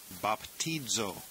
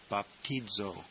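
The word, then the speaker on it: βαπτίζω: Omega this one is baptizo bapo the Zeta is pronounced almost like DZ in this word baptizo and it means I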